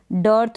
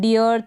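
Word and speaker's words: dearth: कर रहे हैं अ, जैसे कि यहाँ पर बीच में ई ए है, डर्थ हो गया, ठीक है। डियर्थ या डेयर्थ नहीं पढ़ेंगे तो इसकी प्रैक्टिस करें।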